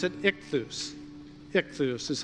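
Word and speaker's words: ἰχθύς: And you pronounce it ichthus.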